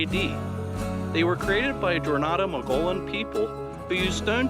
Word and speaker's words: Jornada: I mispronounced Jornada. I'm sorry. It's pronounced Jornada, not Jornada.